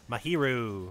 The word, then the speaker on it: Mahiru: That's how you pronounce her name. Mahiru.